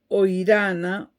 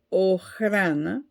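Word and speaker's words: Охрана: El 1 de marzo de 1887, acometen un chapucero intento de asesinato contra el zar, y esto determinó que la Oirana o Ojrana, admite ambas pronunciaciones en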